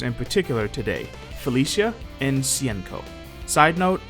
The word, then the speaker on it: Hsien-Ko: and sienko side note i know the pronunciation of her name varies from source to source but from what i've heard cnco is the most accurate or the closest to being accurate at the very least so that's what i'll